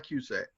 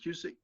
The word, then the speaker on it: Cusack: I heard people pronounce it Cusick, but I pronounce it Cusack.